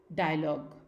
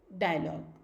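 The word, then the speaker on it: dialogue: और GUE अगर ये वर्ड्स हैं, किसी भी वर्ड लेटर्स हैं और ये किसी भी वर्ड के आखिरी में आते हैं तो these will be pronounced as ग, लीक, डायलॉग, लीक, डायलॉग।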